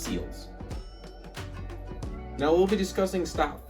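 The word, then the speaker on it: SLLS: Those two very very important terms that we'll be discussing are stop and sills or it's pronounced seals.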